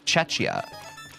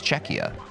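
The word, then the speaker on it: Czechia: Like I even well on Friday I think I pronounced uh Czecha Cetch Cetchia and we had some folks in chat who reminded me or educated me it's Czecha.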